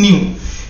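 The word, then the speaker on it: ν: इसका प्रोनाउंसिएशन क्या है न्यू, ये जो है इट इज the ratio of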